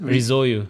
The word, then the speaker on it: Rizoiu: So are there any other res how do you pronounce it? Ruyu.